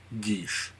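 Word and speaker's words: geas: ruse or a guys guys editor's note it's pronounced Gish um and mass cure wounds six level is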